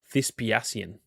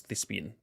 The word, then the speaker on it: Thisspiasian: Okay, I've just realized I've always pronounced that wrong. Thisspiasian. Thi- Thisspiasian? Am I dumb? I thought I genuinely thought that was Thisspian my entire life.